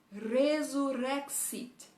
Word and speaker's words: resurrexit: Então, em latim fica resurrexit.